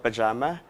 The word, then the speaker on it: PJMA: my acoustic band is called Pajama because it actually it's spelled as PJMA because the band members are PJ, M for Mel, and A for Alj.